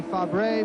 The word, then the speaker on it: Fabre: AGS driven by Pascal Fab Bob I was waiting for your French pronunciation there I would say fabre but Bob French way to pronounce it correctly and Pascal his first